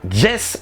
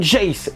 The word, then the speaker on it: Jayce: vous pouvez vous apercevoir qu'il prononce ges et non joyce et ouais prononciation la